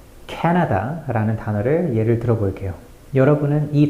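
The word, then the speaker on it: Canada: 단어를 어떻게 읽으시나요 그동안 제가 가르친 수많은 학생들은 캐나다라고 모든 글자를 똑같은 세기로 읽었어요 하지만 진짜 캐나다인들은 다르게 읽죠 캐나다 캐나다 케에 과장될 정도의 강세를 넣어야 해요 강세를 영어로 스트레스라고 하죠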